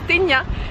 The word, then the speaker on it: Cetinje: sas et christain g mais apparemment ça se prononce kenya qui se trouve au